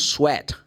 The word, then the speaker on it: sweat: So for example, if I want to say the word s w a t say oh this is sweet. No sweet is s w e t. If I say w s w a t I mean use sweat. Yeah, that's it. Sweat.